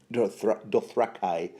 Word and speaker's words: Dothraki: from Ib, the scarred Dothraki, although I think George Martin pronounces that word Dothraki, a horse lord that everybody called Iggo.